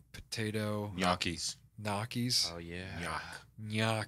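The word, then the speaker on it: gnocchi: little like potato yakis naki's oh yeah yuck like yacht yeah with an n in front of it but it's a g like gnarly say it again gnyaki yaki wow that's impressive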